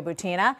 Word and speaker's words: Butina: I mean, Maria Butina, by the way, is Butina. How it's pronounced, has been on my radar screen and a number of others for quite some time.